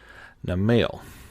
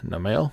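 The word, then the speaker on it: Namielle: rink Kul terth and Arch tempered Nale I guess that's how you say it m m i e l l e and these are some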